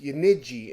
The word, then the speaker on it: Yenice: palette with delicate Aroma yanice is pronounced yiji in Turkish uh and the agonia